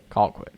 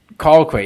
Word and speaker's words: Colquitt: Colquitt. Colquitt. Yeah, you gotta get those get that Georgia pronunciation wrong.